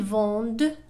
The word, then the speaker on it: vendent: ils vendent des oranges. elles vendent des oranges. لاحظوا دائما في الضمير il و elle vendent يعني لا تنطق ENT.